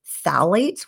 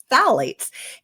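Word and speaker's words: phthalates: disruptor in Plastics is called phalates which is spelled with a silent P so don't ask me to spell it right now but Fates and those are what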